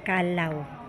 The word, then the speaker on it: Callao: adventure guys going to ang tamama pronunciation pala Ay kalaw cave so Ayan ang aming